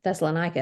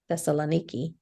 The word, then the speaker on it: Thessaloniki: didn't realize that connection we went to Thessaloniki Thal thessalonica is how I've always said it Thessaloniki that's how they say it didn't have a whole